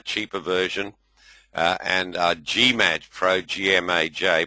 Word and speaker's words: GMAJ: It's a cheaper version, and GMAJ Pro, G-M-A-J, pronounced GMAJ, is our absolute top-of-the-line trading version.